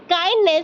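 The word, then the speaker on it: kindness: दोबारा बोल रही हूं डी साइलेंट है इसमें ट इ the word adjective काइनेस from काइंड वो बड़ा काइंड है तो काइनेस हो गई उसकी एट नाउन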